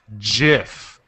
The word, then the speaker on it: GIF: And the dictionary has two pronunciations, GIF and GIF. And the creator says the dictionary is wrong. There's only one way to say it. GIF with a J.